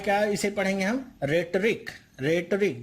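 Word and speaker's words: rhetoric: रेटरिक, ध्यान रखिएगा एच यहाँ पे साइलेंट है, रेटरिक इसे पढ़ेंगे। ओके, तो कंफ्यूज मत होइएगा, यहाँ पे ये जो एच लिखा हुआ है ये साइलेंट है, आप आर से सीधे ई पे जाएंगे और पढ़ेंगे इसे रेटरिक।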